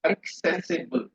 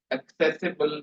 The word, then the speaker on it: accessible: it is not accessible the pronunciation is accessible C is K accessible Li notable both symmetrical